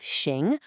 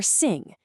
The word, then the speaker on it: 行: And finally, we have xing or sing.